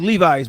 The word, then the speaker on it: Levis: It's spelled like Levi's, but he's got to say Levis.